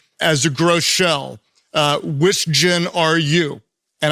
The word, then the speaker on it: Groeschel: For example, my name, Groeschel, it's actually a German name. It should be pronounced Groeschel.